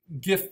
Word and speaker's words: GIF: now it's not that all gif files or jiff files however you want to pronounce it are animated but most